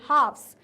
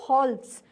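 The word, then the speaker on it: halves: लेकिन अगर आप ये वर्ड देखेंगे हाफ्स। तो हम इसको क्या प्रोनाउंस कर रहे हैं? हाफ्स ना कि होल्स। तो हम इसको एल को प्रोनाउंस या बोल नहीं रहे हैं।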